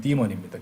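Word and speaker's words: demon: 우리는 뭐 데몬 이렇게 부르기도 하는데 이제 보통 이제 영어식 발음은 디몬입니다.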